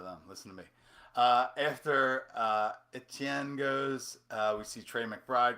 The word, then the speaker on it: Etienne: Everybody pronouncing Etienne as Achan is like, how more American can you be? Like, America. Um, Etienne is a French pronunciation of the last name.